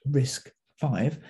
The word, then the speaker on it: RISC-V: RISC-V is pronounced RISC-V, and this stands for the RISC Reduced Instruction Set Computer.